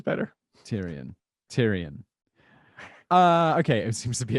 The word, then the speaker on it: Tyrion: Tyrone?